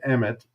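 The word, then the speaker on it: אמת: And the word is emet, if you're going to pronounce it in Hebrew.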